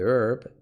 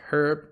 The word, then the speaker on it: herb: Some claim that the herb has therapeutic value for treating pain. This can be pronounced herb or herb, both are right.